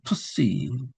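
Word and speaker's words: ψῖ: 그다음에 푸시 푸시 푸시는 PS가 PS 푸시 복합입니다. 그래서 PS는 푸시케 영혼에 해당이 되는 첫자 푸시 예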